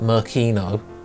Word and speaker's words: Makino: Shanks tells Luffy and Makino, sorry, they pronounce it Merkino, that he's leaving.